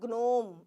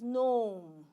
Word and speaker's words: gnome: It is not gnome. It is gnome. Okay? It is gnome. So just keep in mind, when there is N, G goes on a sleep mode.